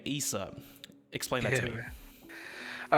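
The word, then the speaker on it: Eisah: most lamest but right my real name is isa but it's spelt e-i-s-a-h yes so all my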